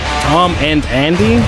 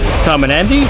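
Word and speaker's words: tomandandy: I'm sure it's pronounced Tom and Andy, but the name of the duo is one word. So Tom and Andy, Tom and Andy, Tom and Andy.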